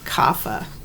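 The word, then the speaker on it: Kapha: earth and water and that is pronounced kafa um kafa types are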